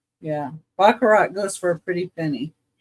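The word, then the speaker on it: Baccarat: It's um B A C C A R A T Bakarat Bakarat Crystal.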